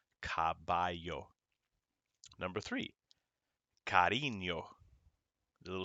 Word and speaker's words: caballo: perro the second one caballo the two l's make a y caballo number three carino the